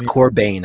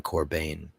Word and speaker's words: Corbijn: And it's Corbijn. I always say his name wrong. It's Anton Corbijn.